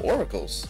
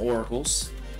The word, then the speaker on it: Auracles: here it says um I think called Aurora am I saying it wrong I might be saying it wrong oracles I don't know why I said Aurora pardon me oracles no I can't believe I'm saying it wrong I'm so sorry um I think it's or R A you no I think I was right oracles yeah yeah oracles yeah so um these